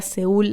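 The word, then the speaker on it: Seoul: Por eso la canción se llama Soul, que en inglés la palabra seul, la capital se pronuncia así.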